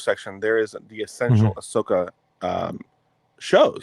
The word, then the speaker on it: Ahsoka: So I'm watching Ashoka. You mean Ahsoka? Is that how you pronounce it? Yeah, it's Ahsoka.